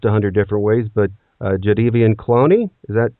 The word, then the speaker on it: Jadeveon Clowney: I've heard it pronounced 100 different ways, but Jadeveon Clowney, is that right on or close? Yeah, Jadeveon Clowney, yeah.